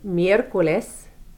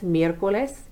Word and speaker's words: miércoles: Wednesday is miércoles, M-I-E with the accent, R-C-O-L-E-S, miércoles.